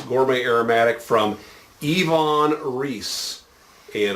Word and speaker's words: Iwan: from yvonne reese and a lot of folks say i won it's iwan but the true story is this is uh the gentleman is of german descent and germans pronounce their wubble use as v's so uh yvonne sounds like yvonne or like volkswagen volkswagen